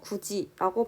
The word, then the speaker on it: 굳이: 세 번째 예시인 굿이 역시도 굿이로 발음이 나지 않고 굳이라고 발음이 나고 있습니다.